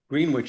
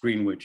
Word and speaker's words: Greenwich: Of course, Greenwich isn't pronounced Greenwich at Hampshire College, it's Greenwich.